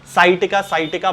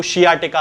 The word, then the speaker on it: sciatica: बीमारी हो जाती है, जिसे कि साइटिका बहुत सारे लोग कहते हैं। हालांकि इसका सही प्रोनाउंसिएशन जो है वो शियाटिका होता है।